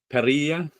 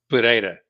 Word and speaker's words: Pereira: And Lucas Pereia Pereira Pereira Pereira.